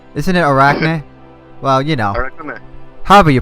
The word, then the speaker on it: Arakune: I pronounce it the way the Japanese people say it. Okay. If you say it American-like, you may pronounce it more Arachne-like, alright. which is like the Greek version.